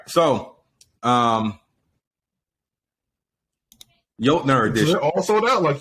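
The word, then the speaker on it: Jötnar: Also, I think it's pronounced Jotnar.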